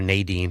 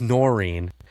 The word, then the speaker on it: Noreen: One of our housekeepers, Noreen, did I get that right? Yeah. I always say her name wrong. I always call her Nadine. It's Noreen.